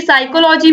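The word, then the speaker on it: psychology: दोस्तों right answer है option C पी, क्योंकि साइकोलॉजी में भी आपको पता है पी साइलेंट है, पी वर्ड तो मतलब प्रोनाउंसिएशन में ही नहीं आ रहा है, तो यहाँ पर साइकोथेरेपी है, तो राइट आंसर हो जाएगा ऑप्शन सी।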